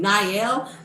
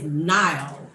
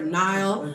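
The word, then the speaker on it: Niall: N cuz I kept saying Nyel but his name is Nyall. like the Nile Valley or river or whatever. Nile.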